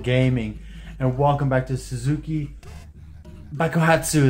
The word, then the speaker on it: Suzuki Bakuhatsu: Hello, fellow worshippers of Zuul Gaming, and welcome back to Suzuki Bakuhatsu, that's how it's pronounced.